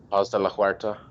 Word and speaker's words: Paz de la Huerta: actress that they had, Paz de la Hor Paz de la Huerta. Paz Paz de la Hoyta. Yeah. Yeah, you're Spanish. You can pronounce that better than I can.